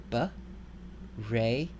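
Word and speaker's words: בראשית: So this word is going to be pronounced ba-re-sheet.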